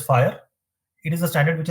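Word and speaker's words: FHIR: fast Healthcare interoperabilities resources it is pronounced as fire it is a standard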